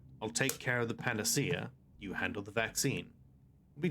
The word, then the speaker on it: panacea: goes go onion uh pronounce pronounced it panachea. That's good. Mhm. Medicine instead of panacea.